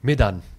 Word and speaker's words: Medan: Medan.